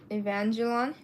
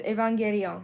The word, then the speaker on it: Evangelion: It's a song from the anime called Evangelon. Very good, okay. It's weird. It's not supposed to be pronounced like that, Mom. I know. It's supposed to be pronounced as Evangelion.